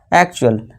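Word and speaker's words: actual: Picture यानी कि चित्र अब टी के बाद यू ए एल आ गया तो इस टी का हम साउंड क्या देंगे? उच्चारण क्या देंगे? च का देंगे। तो इसे क्या पढ़ेंगे? एक्चुअल यानी असल।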